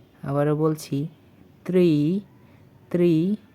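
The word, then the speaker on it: три: অতঃপর ত্রি। আবারো বলছি ত্রি ত্রি বা তিন।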